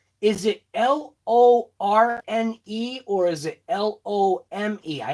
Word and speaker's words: Lorne: i cannot say your first name is it l-o-r-n-e or is it l-o-m-e i actually literally cannot